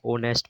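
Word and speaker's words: honest: एच एच भी silent होता जब शुरुआत में होता है तो हमें यहां एच की स्पेलिंग पढ़नी है। सीधा ओनेस्ट पढ़ रहे हैं। इसे एच नहीं पढ़ रहे ओवर पढ़ रहे हैं।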